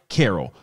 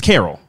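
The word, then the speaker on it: Carole: come love and light Carol pronounced like the traditional name Carol my mom just wanted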